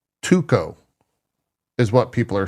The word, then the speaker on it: 2XKO: Tuco. Tuco. It might work. Yeah. Not Tuxco. Tuxco sounds dumb and that doesn't roll off the tongue. Tuco, though, does. It's 2 syllables.